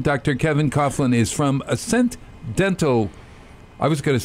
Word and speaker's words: Ascent: Ascend. They say ascend rather than ascent.